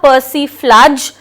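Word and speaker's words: persiflage: Pronunciation इसका flies होगा, पर्सिफ्लाज।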